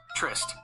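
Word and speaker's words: tryst: r y s t the word trist is pronounced trist it's a single syllable word and the Y has an i sound what is the meaning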